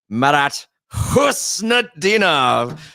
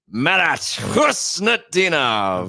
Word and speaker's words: Husnutdinov: Marat Husnutdinov, who has got 2 goals in his first 5 games with the Boston Bruins.